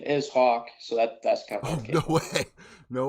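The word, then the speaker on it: Hak: well so it so my name's Hawk and that's how it's pronounced but it's actually h a k it's like I guess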